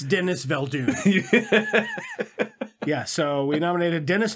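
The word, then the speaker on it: Denis Villeneuve: i think it was i think it's pronounced denis ville dune right the neville dune i think that's right yeah get it it's dennis valdoon yeah so we nominated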